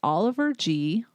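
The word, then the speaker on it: Oliver Gee: but it is lovely Oliver G his name is GE but he pronounces it the letter G is an Australian freelance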